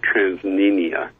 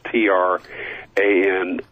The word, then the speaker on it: Transnistria: The Ukraine has allowed the resupply of Russian forces in Transnistria. I'm probably mispronouncing that. I've been aware of it for years. I read it, but I'm not sure how they pronounce it. It's Tranistria.